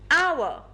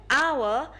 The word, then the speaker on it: hour: hour note the word our is actually spelled with an h at the beginning however we do not pronounce the age the beginning sound is ow which is a vowel sound do you now understand